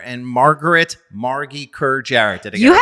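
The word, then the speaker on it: Margy Kerr-Jarrett: founded by creative directors Amuna Winer and Margaret Margie Kerjar. Did I get You have pronounced all the things correctly.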